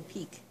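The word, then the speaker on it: pique: what this word is how you pronounce it p IQ you e like a peek peek okay that doesn't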